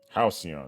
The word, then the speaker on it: Halcyon: Halcyon, that's how you say it.